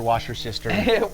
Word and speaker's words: Worcestershire: Worcestershire, wash your sister.